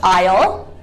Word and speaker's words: isle: So for example, the word isle and island. Isle and island, the S is not pronounced at all.